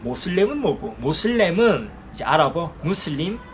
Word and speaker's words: 무슬림: 뭐고 모슬렘은 이제 알아보 무슬림 무슬림을 영어권 사람들이 미국에서 어 모슬 모슬 이렇게 쉽게 자기들 영어 발음대로 한 거예요 그걸 이제 한국에서 신교지